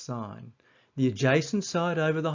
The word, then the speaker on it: sin: The opposite side over the hypotenuse is known as the sign ratio abbreviated to sin n but still pronounced sign.